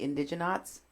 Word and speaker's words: Indigenauts: The Indigenauts. The Indigenauts? This is the Indigenauts? One of their posters. Indigenauts. Indigenauts. Live at Ocho. The Indigenauts. Not nuts, honey.